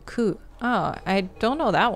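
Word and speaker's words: 九: Number 9 and the word pain also share pronunciation ku.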